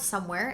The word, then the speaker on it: Someware: The brand is called Somewhere, and it's spelled Someware, if you guys are interested in checking it out.